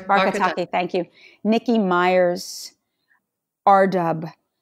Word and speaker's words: Barkataki: I'm not going to pronounce her last name correctly. Barkataki, thank you.